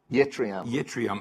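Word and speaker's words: yttrium: Yetrium. Yetrium.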